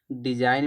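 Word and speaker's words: design: डिजाइन में जी silent होता है।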